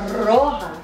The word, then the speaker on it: roja: It's salsa roja. Roll your R's when you say it, you know?